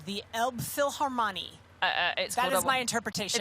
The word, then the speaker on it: Elbphilharmonie: Elbphilharmonie. That's the one. That's how I'm saying you yes.